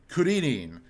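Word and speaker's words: クリリン: And Krillin specifically is so petty if anybody gets angry at that, because you know how the Japanese would pronounce the name Krillin, Kuririn.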